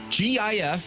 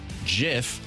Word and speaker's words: GIF: GIF, which some people say GIF or GIF, is an acronym for graphics interchange format. So, it is a hard G.